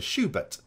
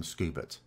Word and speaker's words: Schubert: the other and and even Americans do pronounce SC hache in almost all situations for example the composer Schubert I've never heard an American called him scoobert or what about Schultz